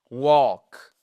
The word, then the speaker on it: walk: short walk et pas walk. On ne prononce pas le L.